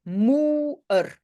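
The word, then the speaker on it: moeër: Pourquoi il y a les deux petits points? Pour dire qu'il faut prononcer moer.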